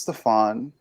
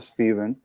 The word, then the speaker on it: Stefan: my name so obviously my name is stefan a lot of people pronounce it stephen but i asked my